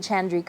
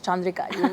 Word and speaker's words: Chandrika: Is it Chandrika?" I'm like, "No, it's Chandrika. You have to say it properly. It's Chandrika."